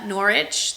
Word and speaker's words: Norwich: There is a book that in the series that is set in Norwich, but it's in England, set in England. And Norwich, the W is silent.